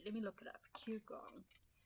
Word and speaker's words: Qigong: I practice Qigong. Okay, I have no idea what Qigong is. Let's see. Let me look it up. Qigong. It's Qi and then the word gong.